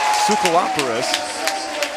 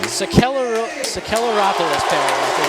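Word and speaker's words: Sakellaropoulos: The name Soukalaparis. I should be able to pronounce that. It's a Greek name. Sakelaropoulos, Sakelaropoulos, yeah, that's it.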